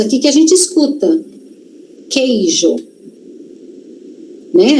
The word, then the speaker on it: queijo: A gente não lê u, eu não falo coeijo. Coeijo não. Q que. Então tem um qu, tem, só que só tem um som. Som de k. Não tem som de ku, tem som de k.